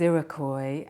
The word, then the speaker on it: Iroquois: the word is iroy and it's spelled i r o q uo i s well iry is a word we've